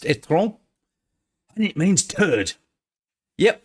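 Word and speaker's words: étron: But what they failed to realise is that their electric car called the etron, in French, when you write it, it's pronounced etron, and it means turd.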